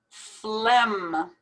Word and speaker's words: phlegm: strength strength conscience conscience phlegm it's as if we pronounce the ph like an f sound and we don't pronounce the g at all phlegm now here's a